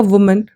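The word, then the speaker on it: woman: देखो, ये वुमन है, ये विमेन है, ठीक है। ये थोड़ा जो प्रोनाउंसिएशन है, क्योंकि स्पेलिंग में थोड़ा सा डिफरेंस है, ये सिंगुलर है और ये है प्लूरल, तो ये ध्यान रख लेना है।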